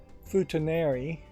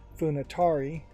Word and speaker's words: Futanari: It's called My Agent is a Futanari, which I think I mispronounce sometimes as Funatari.